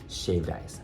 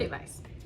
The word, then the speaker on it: shave ice: And I just bribed the kids so hard with shaved ice. I said... Shave ice. Yeah. That's how you say it in Hawaii.